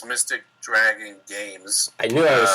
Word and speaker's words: Mystic Dragon Games: and uh uh well just to clarify it's mystic dragon games i knew i was saying it wrong no